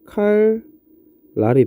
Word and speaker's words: 칼날: 자, 얘 발음하면 어떻게 되죠? 칼 랄이 되고 얘 발음하면 실라가 됩니다.